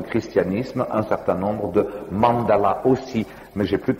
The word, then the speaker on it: mandala: Le dessin sacré en Inde s'appelle mandala, mandala, comme je pense chacun sait. Et comme les Japonais sont incapables de prononcer le L, comme chacun sait, eux appellent ça mandara, mais ça revient strictement au même.